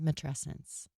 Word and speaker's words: matrescence: Because you're like, adolescence, matrescence. It's right there.